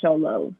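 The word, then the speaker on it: Xolo: and he does go he prefers it pronounced show low so okay i'm down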